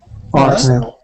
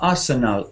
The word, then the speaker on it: Arsenal: It's not Arsenal. It's not. It's Arsenal. It's just, if you go to London, you will hear people say Arsenal. Arsenal. Arsenal. Arsenal. Arsenal. Arsenal. Not Arsenal. They wouldn't say Arsenal. They say Arsenal.